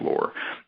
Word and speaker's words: Lore: It's actually pronounced Lore.